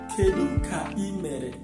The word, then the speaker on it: Kedu ka imere: So Kedu ka imere, the same way you pronounce it, the way you are going to write it.